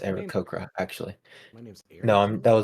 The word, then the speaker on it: Aarakocra: It's pronounced My name- Aarakocra, actually.